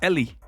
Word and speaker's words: Ely: So your name is pronounced Ellie or Eli? It's Ellie. Ellie, because my name is supposed to be said in Spanish, my real name, which I won't reveal because I like my privacy.